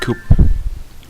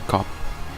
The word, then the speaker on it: Cup: on Yoshi yes mushroom coop mushroom cup I said Coop but it's cop my pronunciation is still